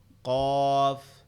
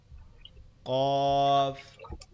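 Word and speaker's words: ق: জিহ্বার গোড়া তার বরাবর বলতে তার সোজা উপরে তালুর সঙ্গে লাগবে, লেগে উচ্চারিত হবে কফ, কফ।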